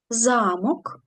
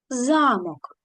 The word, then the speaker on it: замок: склад за мок а в слові замок наголос падає на другий склад замок Ось і в чому